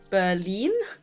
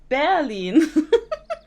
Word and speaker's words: Berlin: my my brain at the start of Berlin was English and the second half was German so I go Berlin and when I saw my colleagues afterwards they were like oh is that not how you say it in general I was like no it's barene like I like and they